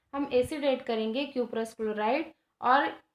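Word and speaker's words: cuprous: With acid copper chloride, acid हम यूज करेंगे यहाँ पे कॉपर क्लोराइड, एसिड यूज करेंगे कॉपरस क्लोराइड, इसको प्रोनाउंसिएट कर सकते हैं क्यूपरस क्लोराइड।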